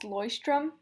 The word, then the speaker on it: Leuchtturm: So it's actually pronounced Leuchtturm, 1917.